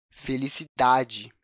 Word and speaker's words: felicidade: da palavra na sílaba da felicidade percebe a sílaba tá é mais evidente nessa palavra quando a gente fala